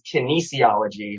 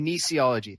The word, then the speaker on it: kinesiology: just let you know the pronunciation for the word exercise is kinesiology not whatever you just said nisi ology thank you that's okay kinesiology that'll be very helpful